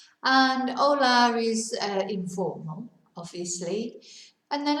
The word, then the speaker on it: hola: So remember, we don't pronounce the H. So it's hola, but it's spelt with a H. And hola is informal, obviously.